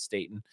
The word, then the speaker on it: Staten: It's like Staten Island, but we pronounce it Staten.